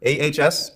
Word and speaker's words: AHS: new RSO, just remember, AHS rhymes with yes.